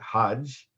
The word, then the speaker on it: Hajj: related languages and in for most of the arabic-speaking world the G there's not there's the hard G sound the G is the soft G sound so they pronounce it Hajj but you can see